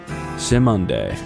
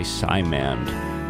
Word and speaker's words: Simonde: Just heard the song Listen by Simonde. And I'm really glad I looked up how to pronounce that, because I was totally going to say Simand, which probably makes some people cringe. But Simonde, I feel like it seems like